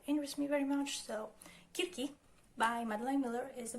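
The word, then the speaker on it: Κίρκη: Like, why am I using that pronunciation while I can use the actual pronunciation, which is Kirki?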